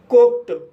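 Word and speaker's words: cooked: कुक कु शब्द में के के बाद ई डी जोड़ा गया है। इसलिए डी का उच्चारण ट होगा। इसलिए इसे कुक पढ़ा जाता है।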